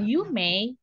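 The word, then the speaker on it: 有名: Nah, Yumei, tapi belakangnya I sensei. Pronunciation-nya atau pengucapannya yume.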